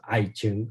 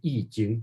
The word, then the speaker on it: I Ching: I Ching, a lot of people pronounce it as I Ching, or actually it should be I Ching because of the.